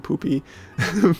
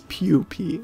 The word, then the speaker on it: pupae: When I did the video on small Costa Rica, I think I kept saying poopy, but I think it's pupae, and I think that's correct, and I do hope so.